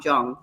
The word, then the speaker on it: Jung: there's young centers and it's spelled Ju in because he's German Jong Jong the Carl Jung Center